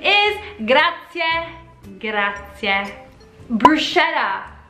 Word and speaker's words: bruschetta: Bruschetta, CH for us, cha, sha, normal, right? Wrong, the correct pronunciation is bruschetta, bruschetta, because Italians do pronounce CH K, like a K.